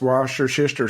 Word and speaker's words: Worcestershire: And it's pronounced Worcestershire sauce.